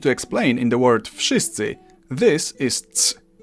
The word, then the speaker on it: wszyscy: the hell they want, in Polish you simply pronounce each sound one after another and you get the word. W, sz, I, sy, cy, I.